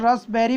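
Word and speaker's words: raspberry: इसको दोस्तों रसबेरी बोलते हैं और रसबेरी। रसबेरी और रसबेरी, इस पा पे भी ज़्यादा दोस्तों स्ट्रेस नहीं देते। रसबेरी, रसबेरी, पा तो आता है बहुत स्मूथली, रसबेरी।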